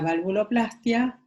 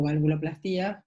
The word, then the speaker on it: valvuloplastia: Uno es la valvuloplastia o valvuloplastía, según como lo pronuncien, que es la reparación